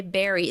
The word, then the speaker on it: bury: yeah so they bury that's a tricky word right because you would want to say something like bury right but it's the same as the yeah but that's the same as the berry like b e r r y like this like a fruit but smaller right like a strawberry um so it's the same pronunciation Berry like to put